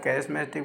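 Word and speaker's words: charismatic: तो required a young dynamic smart चैरिस्मेटिक या कैरिस्मेटिक बोलते हैं इनको, प्रोनाउंसिएशन में थोड़ी अलग डिक्शनरी के हिसाब से है इसमें।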